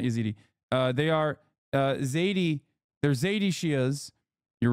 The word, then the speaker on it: Zaidi: Zaidi, not Yazidi. Sorry. Not Yazidi. They are Zaidi.